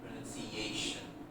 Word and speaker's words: pronunciation: We can't say pronunciation because then the CA, they become squeezed together. So, pronunciation.